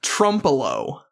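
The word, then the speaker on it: Trempealeau: Okay, what's crazy about this one is it's pronounced Trumpo. Trumpo. I was debating between an O or an ooh sound on the end.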